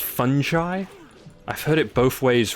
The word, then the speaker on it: fungi: Or is this supposed to be pronounced fungi? I've heard it both ways recently. Nah, it's definitely fun guy. Just like me, I am a fun guy.